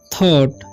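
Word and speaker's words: thought: जी एच जो silent रहता है जब भी साथ में रहता है तो, ठीक है। ओ यू रहता है तो यहाँ पर ओ यू का उच्चारण यहाँ पर ओ हो रहा है, थॉट पढ़ेंगे, ठीक है।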